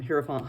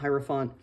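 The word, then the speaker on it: Hierophant: the hieropphant um hi heropant hieropphant both pronouncing it both ways um might be that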